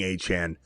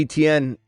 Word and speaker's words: Etienne: At least we're used to saying A-Chane. I don't know if you're going to comply. I don't know if I'm going to comply. Because to me, Etienne, it's beautiful. Now we're going to be confused. We can't say A-Chane. What are we doing here? It's Etienne.